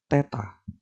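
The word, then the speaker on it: θ: sudut Teta ya jadi di sini dibacanya adalah Teta nah Teta Sisi sampingnya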